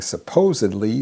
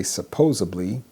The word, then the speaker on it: supposedly: Instead of saying supposedly, they say supposably.